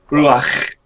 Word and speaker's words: Ruach: Actually, so I looked up how to pronounce it, It's and it is Ruach. Hebrew, so it is actually Ruach.